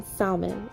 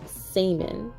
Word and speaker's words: salmon: we will be enjoying some salmon or salmon I don't know how you say salmon without the L guys I am sorry I know I'm saying it wrong but I'm trying here so for the seasoning I'm